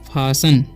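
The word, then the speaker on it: fasten: तो यहाँ पर इसे पढ़ेंगे हम फासल, क्या पढ़ेंगे, फासन। ऐसे पढ़ेंगे हम नेसल, ठीक है। तो इसमें टी साइलेंट है, इसमें भी टी साइलेंट है, आपको ये ध्यान रखना है, ठीक है।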